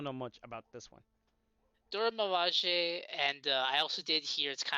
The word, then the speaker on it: Dora Milaje: which is I think it's focused on the Dojo Lamage. That's how you pronounce it, I think, or is it focused on something else? I Yeah. really don't know much about this one. Dora Milaje, and I also did hear it's kind of